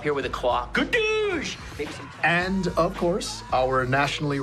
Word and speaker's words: Douche: It's pronounced Douche, not douche. Douche. It is the same spelling, but the Dutch pronunciation.